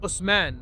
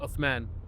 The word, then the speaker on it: Uthman: It's like Osman. Uh-huh. Like Osman versus Uthman.